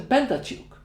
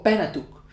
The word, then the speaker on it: Pentateuch: They actually generally have a different version of the Pentateuch, or Pentateuch, if you prefer to pronounce it sillily.